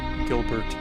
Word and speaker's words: Gilbert: I also didn't know you pronounced Gilbert Gilber.